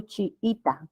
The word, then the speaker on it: chiita: Y podría haber también, por ejemplo, chiita, con vocales iguales, ¿no? Chiita. ¿Ah? Allí, la sílaba tónica es I, es grave que termine en vocal, no se coloca la tilde.